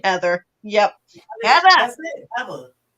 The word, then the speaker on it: Heather: Heather Lynn, when you were in elementary school, it would annoy you when the kids would pronounce the R in Heather.